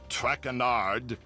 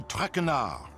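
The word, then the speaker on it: Traquenard: i eat as for my name not trackanard it is trackenar track renard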